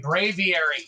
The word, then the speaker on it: Braviary: Like Avery. Bravery. Aviary. Braviary. Got it.